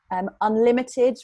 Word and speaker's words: UnLtd: Unlimited, which is spelled UNLTD, that's a company that we have worked with previously that also supports budding social entrepreneurs.